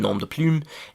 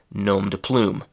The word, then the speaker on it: nom de plume: That's the French pronunciation, nom de plume, and in English we say nom de plume.